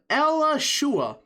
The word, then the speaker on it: Alachua: But at the same time, he still lost places like Lucia, Alachua, that's how you say it, Jefferson County, which, again, we'll get to in a second, Monroe, St.